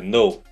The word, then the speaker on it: know: quando amanhã chegar you know você vai saber no não tem a pronúncia do k é no você vai saber ou